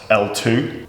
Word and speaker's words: LTWOO: should probably point out here Jimmy it's actually pronounced L2 but I think it looks like Twitter so